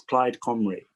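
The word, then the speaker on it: Plaid Cymru: region for plyd camry i had to look up how to pronounce it properly i think it's clyde comrie she's the shadow minister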